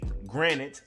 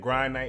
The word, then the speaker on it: Granite: then you have the granite I'm going to pronounce it correctly if it kills me cuz normally I've been saying grite but it's actually Granite like granite countertops salute to the person